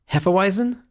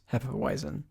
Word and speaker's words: Hefeweizen: can say this correctly, Hefeweizen? Is that how you say it? I think like a lot of times the W's are more V-ish.